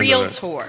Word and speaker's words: Realtor: how come that happened it's a tricky word to say you want to add we all want to add that extra syllable well i know the yankees want to swallow it so it's at the end real tour real tour